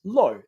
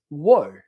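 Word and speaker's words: ło: don't know this but low is not pronounced low in Polish it's pronounced wo like wo I've never gone by that pronunciation of my name but a like someone that's from of Polish origin polish descent they would know that that's how that name's supposed to be said now would I get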